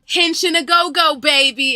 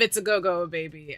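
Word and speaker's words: Henshin a go-go, baby: saying the wrong phrase it's actually hinching a go go baby instead of it's a goo baby I was saying it wrong all these years but hinch in a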